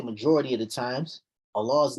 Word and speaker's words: الله: When Allah's name has a dhamma before it or fatha before, we say Allah.